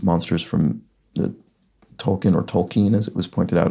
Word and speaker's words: Tolkien: could be Orcs monsters from the Tolkien or Tolkien as it was pointed out I should be pronouncing it by a commenter recently um novels